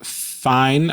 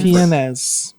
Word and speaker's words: Fiennes: Ralph Fiennes, I think is how you say his name. Fiennes.